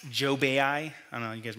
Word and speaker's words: Job: how many of you have heard of job it's spelled j-o-b like job but it's pronounced joe bai i don't know you guys remember hey hag